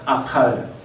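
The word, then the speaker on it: אָכַל: 아칼. 자, 여기 이제 카프에 점이 없죠? 그래서 정확하게 발음을 하시려면 칼로 발음을 하셔야 되는데, 일단 아칼.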